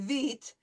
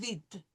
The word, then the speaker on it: vite: Okay, now, as we see oftentimes in French, when we have an E at the end of a word like we do in vite, it's not pronounced. So, trop vite.